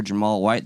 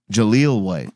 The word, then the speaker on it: Jaleel White: Did you hear that Merkel No, is having a fantastic time with 90s actor Jamal White that played Urkel? Jaleel White.